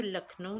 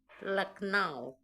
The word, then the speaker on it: लखनऊ: अगर आप तोड़ें क्योंकि अंग्रेज जो है वह लखनऊ नहीं बोल पाते थे। वो बोलते थे लक नाव ठीक है लक नाव